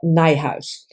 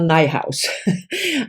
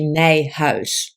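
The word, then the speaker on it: Nijhuis: beloved beasts by oops Michelle nighthouse rhymes with my house so Michelle nighthouse I always struggle because this is a very Dutch name and the Dutch pronunciation would be nay house so she probably simplified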